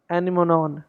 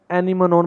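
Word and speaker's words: anemone: It's pronounced anemo, anemo, knee. Just ignore the mon ending, which look like it should rhyme with phone but doesn't.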